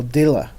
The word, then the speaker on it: Aldila: year it's a rogue 95 MSI by uh aldila is that how you pronounce it yeah so that it's for TaylorMade